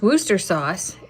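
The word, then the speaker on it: Worcester sauce: in a snow ice scenario right now it's pronounced Wooster sauce it's a county in England seriously why do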